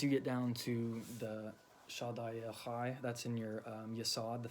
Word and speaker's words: Shaddai El Chai: It spells it with like a chi. I'm sorry, not a chi. It looks like Kai, but it has a C. But it has more, when I looked up the Hebrew pronunciation of it, it was more of a ha with a H, just the H, like Shaddai El Chai.